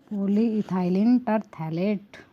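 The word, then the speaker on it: polyethylene terephthalate: पॉलीइथाइलिन टरथैलेट। क्या होती है? पॉलीइथाइलिन टरथैलेट। पी यहाँ पे साइलेंट होता है, ओके।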